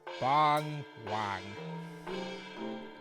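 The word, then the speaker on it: 봉황: Its name is pronounced Bong Wang.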